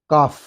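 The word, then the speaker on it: calf: Hall clean काफ सी एल एफ काफ बोला जाता है।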